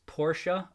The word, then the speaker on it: Porsche: run kitty need to correct you on the pronunciation it's porsha oh thank you uber kicks thank you uh